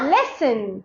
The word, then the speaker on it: listen: S-T in the middle. Like castle. Castle. Listen. Listen. Listen.